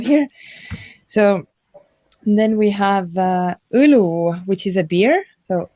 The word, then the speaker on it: õlu: So then we have õlu, which is a beer. So õlu. Can you pronounce?